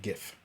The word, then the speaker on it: GIF: little be back soon gift i made uh gif gif see you notice the hard g like